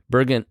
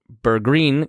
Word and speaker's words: Bergreen: hanged for stealing bread Bergen B bergreen continues I've been saying his name wrong the whole time I'm sorry